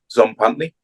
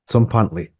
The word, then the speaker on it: Tzompantli: name one more time I'm gonna try and pronounce it correctly yeah z pantley z pantley z is that close okay yeah that's good